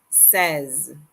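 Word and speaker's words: seize: Says. It looks like the English word sees, but it's pronounced says.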